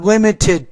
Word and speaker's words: limited: Not limited to. Remember, when the T's in the beginning of a word, you don't pronounce it as a flap or a D sound. It's not do, but limited to.